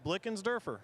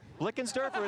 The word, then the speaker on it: Blickensderfer: It's easy. It's Blickensderfer. Blickensderfer. It's not that hard, Jimmy Mackin.